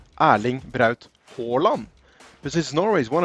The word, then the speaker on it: Haaland: a Norwegian name and in Norway when a word has two consecutive A's in it it's actually pronounced as a or so the right way to say his name in Norwegian would be aling this is Norway is